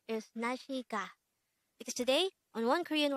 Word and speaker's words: 날씨: sentence mean the word in red letter is nashika because today on one korean word of the